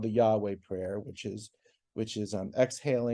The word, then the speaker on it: Yahweh: God or the Lord which which will pronounce for our purposes as Yahweh um in the original